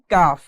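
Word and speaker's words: ق: এরপরে দেখুন 5 নাম্বার মাখরাজ, জিহ্বার গোড়া থেকে একটু আগে বাড়িয়ে তার বরাবর উপরে তালুর সঙ্গে লাগিয়ে পড়তে হয় কাফ। কাফ জিহ্বার গোড়া থেকে একটু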